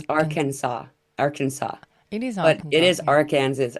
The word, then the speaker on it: Arkansas: say AR how do you say is it AR Kansas or it's Aransas Arkansas it isans it is Aras or ar Kansas